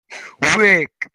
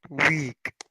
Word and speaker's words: Wick: Wick. Wick. That is how we pronounce it, people. Name of Wick. the month. Wick. We pronounce it as wick, not weak.